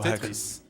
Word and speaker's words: Tetris: No, we do pronounce the S. Oh, Tetris.